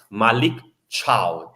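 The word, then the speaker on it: Malick Thiaw: the the original is Malik cha and Cha in Italy means also goodbye you know so it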